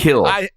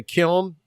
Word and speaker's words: Kiln: The Kill. By the way, what is it called? The Kill. The Kill. Oh, the Kill. Yeah, that's how they pronounce it. The Kill. Mm-hmm. So when I say Kiln, I'm not saying it right.